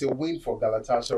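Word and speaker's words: Galatasaray: Ry, not ray. No, not galatas. Galatas. Galatas. Okay. All right. I have to learn that pronouncing Galatas. Not Ray.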